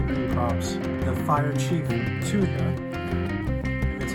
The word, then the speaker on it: Thuja: Enthusiast welcome to Green CRS the fire chief Tua that's how you pronounce it this uh is a dwarf variety